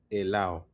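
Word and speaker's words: helado: Remember the H we're going to go into with the silent H. H you don't pronounce it's not right? It's allow.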